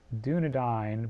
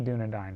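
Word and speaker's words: Dúnedain: Aragorn is also called not do Nadine but the Doudna dine right did I get the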